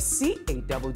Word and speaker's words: Caddy: Igama, I go by the name of CADDY, pronounced Caddy.